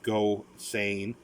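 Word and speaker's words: Gosseyn: uh go saying it's uh that's how it's pronounced go sane um he's he sort of uh has an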